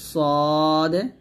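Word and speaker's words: ص: মাঝে এইখানে লাগিয়ে আমরা সদ মোটা উচ্চারণ করব, সিন যে পাতলা উচ্চারণ করব।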